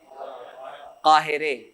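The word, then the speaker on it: قاهره: اس کا تلفظ کیا ہوگا؟ قاہرے. ابھی میں نے آپ کو بتایا تھا قاہرے.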